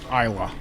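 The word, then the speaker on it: Islay: of the scotches or is that the it's pronounced Isa Isa i s a y um and Isa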